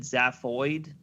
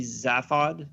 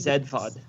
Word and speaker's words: Zaphod: I know it doesn't match the letters, but I always just said Zaphoid for some reason. It's a British pronunciation because they No, that would pronounce be it- Zedfod.